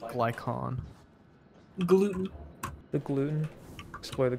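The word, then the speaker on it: Glykon: where'd you know explore the glycan it's pronounced glycon gluten the gluten explore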